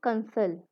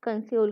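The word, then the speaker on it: consul: लेकिन कंस जो ये कंसोलाइज वर्ड है ना, यहाँ पे एक वर्ड आता है कंसल या कंस्यूल कह लो आप, ठीक है। कंसल वैसे इसका प्रोनाउंसिएशन है।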